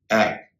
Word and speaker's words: app: APP, ऐप। WhatsApp में जो ऐप है उसका उच्चारण ऐप होगा, एप नहीं होगा, न कि अप होगा।